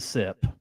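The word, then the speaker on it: Sepp: goat type of Step actually take out the tea it's a set it's a sep the old septic tank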